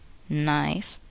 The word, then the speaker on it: knife: The letter k is not pronounced in the following words. Listen and repeat each word after the speaker. Know, knew, knowledge, knee, knife, blackguard.